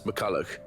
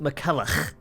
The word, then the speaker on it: McCulloch: to Anna hurry miss McCulloch the foreman is looking for you oh it's pronounced mikela thank you the Bradford's